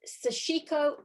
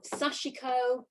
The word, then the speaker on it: sashiko: go together quite quickly is there a correct way to say it sarah is it sashiko sashiko it's it's basically either way it's um about the where you put your your stress on each of those letters but sachiko sashiko um